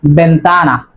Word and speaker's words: ventana: Número 6, ventana. Ventana, not ventana, it is ventana because this letter name is ube and it will be pronounced like bo, not bha.